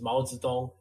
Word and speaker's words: Mao Zedong: Well, it's the same, Mao Zedong. But we would say like in Chinese, it's Mao Zedong. Like that's how you would pronounce it properly.